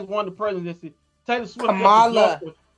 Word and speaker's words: Kamala: Kamala. It's Kamala, sir.